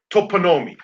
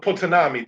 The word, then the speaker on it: toponymy: There is a thing called toponymy, and that or potonami, depending upon how one wants to pronounce it.